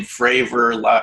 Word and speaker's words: Fravor: politically correct but obviously his last name fravor rhymes with favor so you can kind